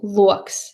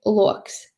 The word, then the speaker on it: loks: And first one is level tone or stieptā intonācija, high throughout the syllable. So loks, spring onion, loks. Falling tone or krītošā intonācija, loks. And third one, broken tone or laustā intonācija, loks, window.